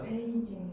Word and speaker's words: 베이징: 그래서 주요한 중국의 수도가 4개가 있는데 어느 수도냐면 베이징. 여기 그치. 지금 중국 수도는 어디예요? 베이징. 그걸 한자로 읽으면 뭐야? 동경. 북경이죠. 아. 베이징이니까 베이가 북이잖아. 베이징, 네. 북경, 베이징입니다.